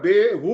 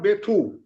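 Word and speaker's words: বেত্থ: Last but ওয়ান ওয়ার্ডটা বেহু আর বেথু। কোনটা ঠিক? বেথু, বেথু, হ্যাঁ বেথু।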